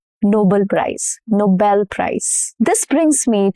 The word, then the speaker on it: Nobel: And same goes for Nobel, not Nobel Prize, Nobel Prize. This brings me to my rule number 1, which is syllable stress.